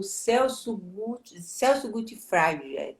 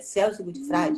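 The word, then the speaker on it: Celso Gutfreind: já leu alguma coisa dele, que é o Celso Gutfreid, pronuncia assim, Celso Gutfreid, já ouviu falar?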